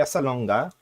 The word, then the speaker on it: Salonga: And then we got Lea Salonga. Yes, we say it with a hard G.